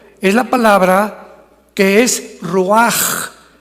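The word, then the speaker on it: רוח: La palabra para espíritu en el hebreo es la palabra que es roaj, que se escribe ruash con ch, pero repito, ese pronuncio pronuncia como J.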